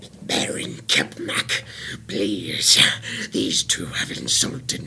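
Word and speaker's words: Kepmak: Kepmac. Kepmac. Kepmac. Captain Crunch. It is spelled K-E-M.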